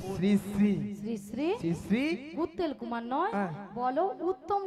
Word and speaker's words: শ্রী: সিড়ি সিড়ি সিড়ি সিড়ি সিড়ি সিড়ি সিড়ি সিড়ি সিড়ি সিড়ি। আমি কি সিঁড়ি সিঁড়ি বললাম? আমি কি বলেছি? শ্রী শ্রী। বলো শ্রী শ্রী। উচ্চারণ করো, তুমি ঠিক করে উচ্চারণ করো।